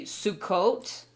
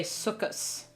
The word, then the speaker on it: Sukkot: Like in Hebrew, we would say Sukkot, which is like the Feast of Tabernacles. But in Yiddish, they would say Sukkos.